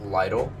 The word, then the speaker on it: Lytle: i said it right my last name is pronounced lytle l-y-t-l-e i mean y'all obviously see it because i'm doing the video but a lot of people just say little and it's just like